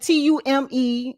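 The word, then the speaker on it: Mtume: And Tomb is the M is silent. Tume. It's like fume.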